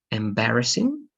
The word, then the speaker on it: embarrassing: The first one is only going to be embarrassing. Embarrassing. The stress is going to be in this part.